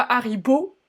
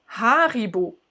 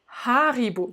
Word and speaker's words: Haribo: la française mais c'est haribo haribo déjà avec le hc évidemment haribo et puis l'accentuation plutôt sur la première syllabe c'est comme ça que ça c'est typique en allemand haribo richmond au pardon je